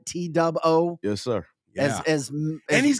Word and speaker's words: T-Dub-O: T-Dub-O?